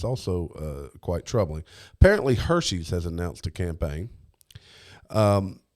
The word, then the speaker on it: Hershey: Apparently, Hershey's has announced a campaign. And this it's actually. You mispronounce that. It's Hershey.